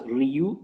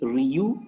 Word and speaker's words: Rieux: I am pronouncing the name as Ryu, but the spelling of the name is Rieux, and the pronunciation is Ryu, and he's a doctor